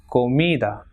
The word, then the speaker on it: comida: Same, following the same rule, it is comida and examen. So it has got 2 syllables, examen. So the second last will be stressed, that is exa.